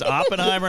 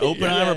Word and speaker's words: Oppenheimer: Is that exactly right cuz it's Oppenheimer, not Openheimer, but hey.